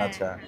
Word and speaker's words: আচ: মানে হাস না। উচ্চারণটা একটু অন্যরকম।